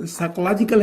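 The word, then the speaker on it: psychological: पी यहाँ पे दोस्तों जो लेटर है, ये इसको इन्होंने यानी कि इस वर्ड में खामोश रहना पड़ता है, इसको पढ़ना नहीं पड़ता प्रोनाउंसिएशन में।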